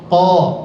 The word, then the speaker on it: ق: kedua bibir jangan ya Enggak boleh dibaca o jangan buka saja sedikit posisi mulutnya qo Q qo tapi bukan juga ka ya bukan Ka tapi Q sedikit buka posisi mulutnya qo q q qo q